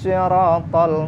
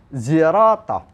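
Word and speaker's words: صراط: Kata Imam Ibnu Katsir, mayoritas ulama membacanya dengan huruf shad. Ihdinas sirata, sirata. Tapi ada yang membaca pakai sin, sirata. Ada yang membaca pakai za, zirata. Ada qabilah tertentu di wilayah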